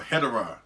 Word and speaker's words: Hedorah: edition of hedra or hedra or hedera i say hedra i say nothing against anybody who does say his name the other ways but i always have i prefer to call him as hedra you know what i'm